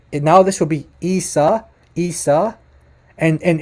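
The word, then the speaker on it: عيسى: isa isa not isa listen carefully to the pronunciation would have to be it now this will be isa isa and and it's not risa listen to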